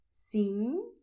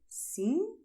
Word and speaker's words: sim: Sim, não. Both are very nasal, okay? Sim, não.